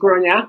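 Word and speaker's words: Gráinne: But I presume, Grainne, and it is Grainne, nothing else, that you might have come across funny situations like that when it comes to your first name.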